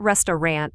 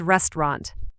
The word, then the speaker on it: restaurant: And restaurant is not restant, it's restaurant.